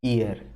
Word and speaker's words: heir: इसी चीज को नो ईयर, HEIR, H silent होता है, नो ईयर का मतलब उसका कोई वारिस नहीं बचा, ठीक है ना।